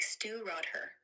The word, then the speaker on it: Stiùireadair: Bunnahabhain Stiùireadair. It's that smooth unpeated Islay single malt from Bunnahabhain, pronounced like stew rod her.